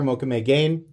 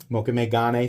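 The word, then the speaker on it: mokume-gane: materials like Mokatai or Mokame Gain, right? Mokame Gane, sorry, I'm going to keep saying it wrong unintentionally this time.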